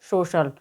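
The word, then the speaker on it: social: उच्चारण श होता है तो आप देख सकते हैं यहां पर एस ओ सी आई ए एल तो यहां पर सी के बाद में लिए दे रखा है तो इस कारण यहां पर होगा तो एस ओ सी आई ए एल में जब सी का उच्चारण होगा तो एस ओ सी आई ए एल को हम क्या पढ़ेंगे सोशल इसी प्रकार से होता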